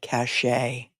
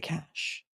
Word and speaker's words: cache: And I can't wait for Hank Brennan to pronounce that word cashache instead of cash supposedly hematobba.